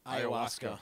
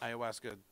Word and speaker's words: ayahuasca: The ayahuasca. Ayahuasca.